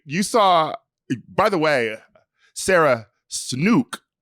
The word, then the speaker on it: Sarah Snook: Wait, you saw, by the way, Sarah Snook is how we pronounce her name.